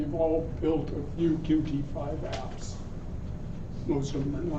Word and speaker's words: Qt: I'm going to talk a little bit about my experience with porting some applications for using QT5. First of all, a little brief oversight. Qt is a full development framework, or sometimes called